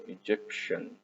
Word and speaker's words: Egyptian: لو واحد من مصر مصري نحط لها IAN، والIAN مع التي تنطق شن، يبقى Egyptian Egyptian Egyptian.